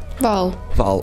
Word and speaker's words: Hval: your your last name it's just Val Val okay worry about the the H okay okay I I've been um saying pronouncing the H uh out of pure uh lack of knowledge I guess lack of Norwegian knowledge so okay Jenny Val okay fantastic cuz uh easy easy on the H easy on the H